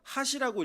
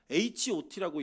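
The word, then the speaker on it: H.O.T.: 그때 당시에 이제 HOT 이거를 읽어보세요라고 얘기해서 핫이라고 읽으면 꼰대였고요. HOT라고 읽으면 신세대였어요.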